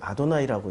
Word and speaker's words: 아도나이: 하아담 대신에 그 여호와인데 유대인들은 여호와라고 안 읽고요. 뭐라고 읽냐면은 이것을 아도나이라고 읽습니다. 글자는 하나님인데 이 글자는 하나님인데 감히 하나님이라고 읽을 수 없으니까 주님이라고 읽는 거죠.